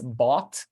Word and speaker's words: bought: The way you write bought is not the same way you're going to be pronouncing it, right? You have a GH there in the middle, like written there, that has no sound, pretty much.